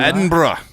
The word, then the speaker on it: Edinburgh: pronounce that? Edinburgh? Edinburgh.